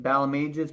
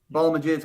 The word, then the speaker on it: Balmages: it's it's bowel mages bow like pal you know I'm your pal and majors like I write music on pages right Balam ages pal pages so there you go so you're actually putting an accent on the bow me raise some people say bow ages bout mages but it's in there ball image is completely wrong but I've also gotten ball Maj but I'm not a